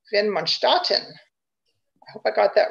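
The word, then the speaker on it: Widmanstätten: okay these are called windmin statin although if you're german as i was corrected the other day it's properly pronounced vin monstarten i hope i got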